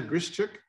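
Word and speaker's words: Grishchuk: a dedication to lena grischick the acquaintance pronounced it the g is almost silent and they did recently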